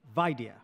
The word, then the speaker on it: Vaidya: Emphasize the first syllable. Vaidya.